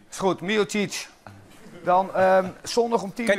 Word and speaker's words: Miocic: Leo, hoe bespreek je het uit, Leo? Ja, die deed het goed. Miocic. Is goed, Miocic.